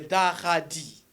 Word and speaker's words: Dahaadi: Bon, chacun prononce à sa manière, mais la vraie prononciation, c'est Daradi. C'est ça la vraie prononciation.